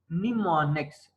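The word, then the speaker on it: mnemonics: assembly language use instruction निमोनिक्स एम इसमें silent है निमोनिक्स ट हैव न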